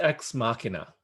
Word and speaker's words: Ex Machina: And then It's pronounced Ex Machina.